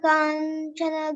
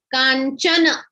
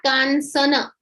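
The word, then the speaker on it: काञ्चन: Like here, see, it is only C. but we pronounce it as cha, kanchana, not kansana.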